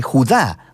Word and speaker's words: Judá: La carta de Judas, o más precisamente Judá, de acuerdo con la pronunciación de su nombre tanto en griego como en hebreo.